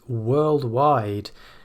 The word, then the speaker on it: worldwide: But if you put it on its own, maybe at the end of a sentence, then the stress will appear on the second syllable.